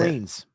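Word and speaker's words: Chantrellines: a girl group, the Charlinas. I think that's how you say it, right? Chatelinas, I Oh, think. the Chantrelines? Yeah, that's it. Chantrelines. Yeah.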